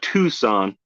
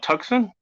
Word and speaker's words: Tucson: Tucson by the way it's not Tucson you don't you don't if you spell it either with the s in front of the C on Tucson there actually is an